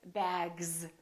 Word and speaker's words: bags: say bex we say bags so the s is pronounced like a z in some very common words so let me teach